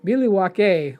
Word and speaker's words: Milwaukee: they're talking about um Milwaukee, right? So Alice Cooper's like the the actual name is pronounced Milywake which is along for the good land.